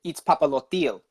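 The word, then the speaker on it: Itzpapalotl: He pronounced it Izpapalotil. So that sounds better. But Izpapalato, I don't, because okay, so you're supposed to like put it. You're supposed to put your tongue on the roof of your mouth, and you're supposed to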